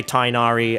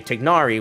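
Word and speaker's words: Tighnari: to the basic phonetics it's really not that difficult to not say tinari and just say tignari which is infinitely closer and it will be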